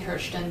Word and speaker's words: Hirschten: their systems as well or my name Hurston but Hurston it's a long name hir TN I have to spell it out every time so it's easier to